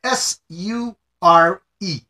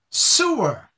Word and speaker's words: sure: The word S-U-R-E is pronounced sure, with an H in it, sure. But if someone does not put the H in their pronunciation, it becomes sewer.